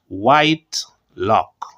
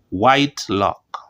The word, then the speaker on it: Whitlock: Fred Whitlock okay so after a careful check of the name it is pronounced white lock white lock when you're that old